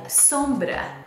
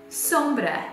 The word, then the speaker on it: sombra: eye shadow and in portuguese that is called sombra say it with me again sombra s-o-m-b-r-a sombra um so that's today the word